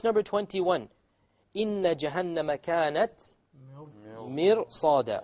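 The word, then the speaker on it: مرصادا: Okay, now look at this ra over here. This ra is silent, and before it is a kasra. Okay, so we said generally it will be light. Mir. But now we find that after the ra is a sad.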